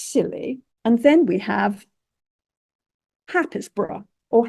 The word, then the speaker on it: Happisburgh: And then we have Happisburgh or Haysborough. How you spell it and how you pronounce it, it sort of depends on what part of the country you live in.